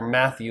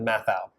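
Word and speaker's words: Matthau: this week it was I said Bad News Bears Walter Matthew instead of math out and I knew it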